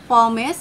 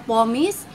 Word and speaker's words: pumice: Kasi, alam nyo ba guys na ang totoong pronounce ng pumice ay pomace or pomice? Pomace or alam nyo yung word na promise? Tanggalin nyo yung R doon.